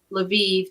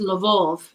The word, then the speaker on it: Lviv: Lviv, the city I told you that is so beautiful, is Lvov in Russian.